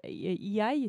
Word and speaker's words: AI: Vous êtes le fondateur de l'entreprise Urban IA, AI, c'est comme ça qu'on le prononce, intelligence artificielle.